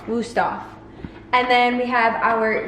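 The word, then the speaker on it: Wüsthof: Wusthof? Wusthof. Wusthof.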